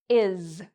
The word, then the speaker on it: is: But many students actually say: "is", where they pronounce it like an "s", but it's actually pronounced like a "z" at the end.